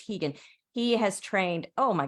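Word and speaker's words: Rigan: is hegan Machado it's it's spelled r i g- an but it's Portuguese so it's hegan he has trained oh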